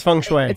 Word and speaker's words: feng shui: There is some part of the psychology of feng shui put your coffee cup closer. Is that how it's pronounced? Because it's spelled F-E-N-G. Yeah, it's feng shui.